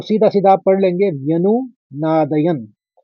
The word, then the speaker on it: व्यनुनादयन्: तो व्यनु, आप 2 शब्दों में इसको बांट लीजिए, व्यनु नादयन। लेकिन पहले शब्द के संग किस तरह से उच्चारण करना होगा ये समझना बहुत जरूरी है।